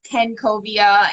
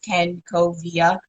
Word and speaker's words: Kencovia: i my name is ken kovia and my brand is self-titled ken covia um and it's funny because i broke it up phonetically just so people would um pronounce it correctly because i've struggled all